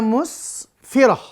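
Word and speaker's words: مسفرة: Musfiratun, maka dibacanya musfirah. Mustabsyiratun, kalau diwakafkan maka mustabsyirah.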